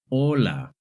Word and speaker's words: hola: In Spanish, the letter H is always silent. Whether it's at the beginning, in the middle, or at the end of the word, it's never pronounced. Here are some examples of words that have the letter H.